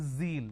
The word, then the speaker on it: zeal: john it is zone it's not g it is zeal it's a z sound